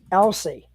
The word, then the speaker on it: Elsey: couple weeks guys I am talking about Mitchell Elsie and I hope I got your last name pronounced right yep you got it right you're